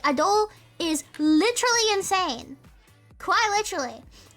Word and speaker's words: Adele: The way she said her name was Adele. So I'm like kind of, it's like saying Adele. Yeah, that's the way to say it. But I'm Australian, so I constantly accidentally say Adele instead. But no, she pronounced her name as Adele.